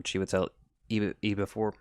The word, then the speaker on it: Chiwetel Ejiofor: There's, obviously, Chiwetel, I think that's how you say his name, Chiwetel Ejiofor.